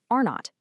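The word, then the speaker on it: R₀: So, they use a metric called the basic reproduction number, pronounced R naught.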